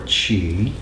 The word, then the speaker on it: Qi: writing Mandarin Chinese it's spelled Qi and we pronounce it t or Chi now Chi animates everything that's what's special about